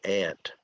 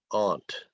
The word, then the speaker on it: aunt: It's just like the insect that crawls on the ground, ant. But a lot of people in the United States say aunt. So different people in the United States pronounce it different ways.